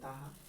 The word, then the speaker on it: Taha: Okay, my question is for Taha. Am I pronouncing right? Yes.